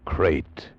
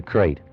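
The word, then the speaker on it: krait: Tonight we escape to India and the story of a man trapped in his bed by a crate.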